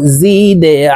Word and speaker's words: زد: প্রিয় দর্শক, এই দাল কলকলার হরফ নিচের দিকে ধাবিত করে ধাক্কা দিয়ে উচ্চারণ করতে হবে। দেখুন, এই যে দালের নিচে ত্রিভুজ চিহ্ন নিচের দিকে ধাবিত করে দেওয়া আছে, তো এই যা জজমওয়ালা দালকে নিচের দিকে ধাবিত করে ধাক্কা দিয়ে উচ্চারণ করব।